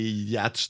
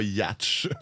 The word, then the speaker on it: yacht: c'est quand ils se mettent à attaquer les yachts des super riches. D'ailleurs, c'est, OK, moi, je coming out de ma classe sociale, ça a l'air qu'il faut prononcer ça yacht, puis pas yatch.